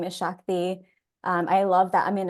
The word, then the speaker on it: Shakti: My name is Shakti.